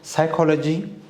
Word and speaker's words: psychology: Tsunami, so T is silent, and honest, H is silent, psychology, and P is silent.